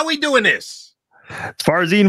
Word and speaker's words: Farzin: Farzin.